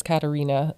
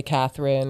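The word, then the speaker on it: Katharina: itself is a nickname my full name is Katarina um but it's spelled with an H so then people always inevitably say Catherine or Katherina or whatever so I stick with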